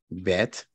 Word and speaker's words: bet: Bet. In Hebrew, it's pronounced bet. In Arabic, it's pronounced bait.